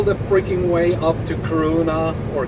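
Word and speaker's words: Kiruna: No, it's all the freaking way up to Karuna or Kirina as it is called.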